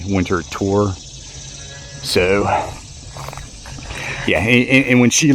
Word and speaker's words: Winterthur: And yeah, and to let you know, the house, it looks like it's pronounced Winterthur, but it's actually Winterthur.